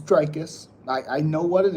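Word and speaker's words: Dricus Du Plessis: But no offense, but you can't even pronounce It's Drius. I know how to pronounce it. Thank you. It's Drius. I know how to pronounce it. It's Drikus Duplexi.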